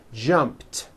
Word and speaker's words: jumped: sound at the end jumped of course the word is spelled with an ed ending it's just pronounced as a t jump like that the